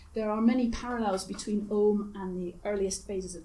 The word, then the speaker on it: Ogham: You'll sometimes see it spelled without the H and pronounced Ogham, but I'll stick to Ogham.